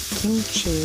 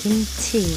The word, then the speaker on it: kimchi: Not kimchi, it's kimchi. What happened to my pronunciation?